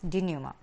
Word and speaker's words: denouement: D-E-N-O-U-E-M-E-N-T. This is a very different term or a new term for us. Denouement, it is pronounced to be denouement.